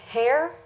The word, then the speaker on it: Hare: Hare. Good evening, Mr. Hare. Evening. How you doing? Are we pronouncing that correct?